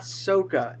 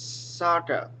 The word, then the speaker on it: Sokka: And it's not Soka, it's Sokka.